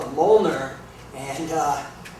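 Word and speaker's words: Mjölnir: is uh called a molner and uh it's spelled very weird it doesn't uh it's not phonetic it's M J O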